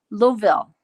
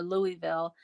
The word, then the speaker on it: Louisville: she lives and let me say this right louisville you can't say louisville or louisville she lives in louisville so i've been to